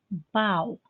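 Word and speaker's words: bough: not heard every day bow a large branch of a tree don't confuse this with bow meaning to bend down the way actors take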